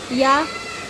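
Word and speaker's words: ㅛ: तो इसको प्रोनाउंस करेंगे हम यो, हिंदी में यो। जैसे कि इंग्लिश का वर्ड होता है योर, तो उसको थोड़ा YOUR होती है ना उसकी स्पेलिंग, तो उसमें थोड़ा यो को खींचना पड़ता है योर। तो इस वो वाला इसका हम रेफरेंस ले सकते हैं।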